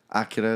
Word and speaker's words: Akira: Akira or Akira. Akira is the right way to say it.